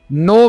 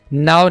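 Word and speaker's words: know: जाओ over means ऊपर नो means जानना यहां पर केस साइलेंट होगा नो he wants to नो यू वह आपको जानना चाहता है यहां पर इसको आपने नाउ नहीं बोलना दिस इज नो ही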